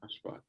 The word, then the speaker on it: Ashfaq: Ashfaq. You can call me Ash. Okay. Ash. Sorry if I mispronounced it. No, you pronounce it perfectly.